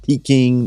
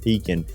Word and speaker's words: Pekin: we're going to hear a little bit about Pekin Insurance. We've been doing business with Pekin Insurance for several years. Not Peking, not Pekin, as some of our customers often mispronounce it.